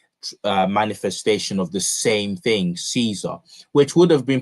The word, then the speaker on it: Caesar: latter phenomenon can be witnessed, for example, in the rapid adoption of the original Latin cognomen Caesar.